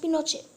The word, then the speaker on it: Pinochet: Yes, we know it was a military coup, and it was led by General Augusto Pinochet, pronounced Pinochet, an army general led the coup.